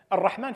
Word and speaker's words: الرحمن: المبنى قاللك دير بالك الرحمن فيها الف تلفظ ولا تكتب اذا هي الزياده في